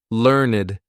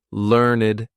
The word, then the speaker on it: learned: So, learned needs to rhyme with concerned. This is exactly the same sound. We're going to do learned and concerned like that.